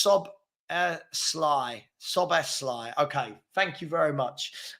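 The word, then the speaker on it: Szoboszlai: saying hey what um okay hen said it's pronounced so Sly soly okay thank you very much um I forgot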